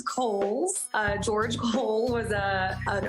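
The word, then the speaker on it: Cowles: much it is pronounced kohl's george cole was a an early land owner developer out in the east county area so holes mountain like the department store and back by popular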